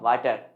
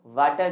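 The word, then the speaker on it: water: बता रहा था वाटर लेकिन नहीं दोस्तों वाटर नहीं होता वाटर होता है क्या होता है वाटर क्योंकि प्रनंसीएशन का बेसिक रूल ये कहता है की जब भी कोई कभी भी ऐसा हो की आपका अल्फाबेट एस सेकंड पोजीशन पर हो तो उसका साउंड ए नहीं ओ होता है जैसे पर एग्जांपल वाटर नहीं वाटर होता है दोस्तों जैसे पर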